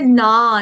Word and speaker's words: न: है उसमें हमने चार न देखे। अभी यहाँ पर गलती से ना, ना नहीं, मतलब आ का